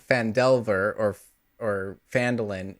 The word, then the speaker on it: Phandelver: I think that's because it's fand Delver fand Delver is the is the story name not fandel and so people say